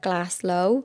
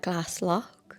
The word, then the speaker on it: Glaslough: So, I call it Glass Low, but I think people call it Glass Lock.